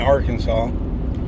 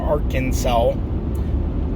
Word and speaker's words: Arkansas: um I grew up in a town in Arkansas or ar Kansas as some people call it us local folks in Arkansas pronounce it Arkansas and uh I lived in